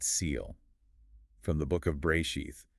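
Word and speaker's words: בראשית: We're embarking on a deep dive into day two, the day of the airtight seal from the book of Bray sheath. And that's pronounced bear sheath.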